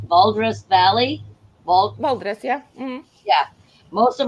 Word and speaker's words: Valdres: I'm going to try and pronounce this right. Valdres Valley. Val, Valdres, yeah.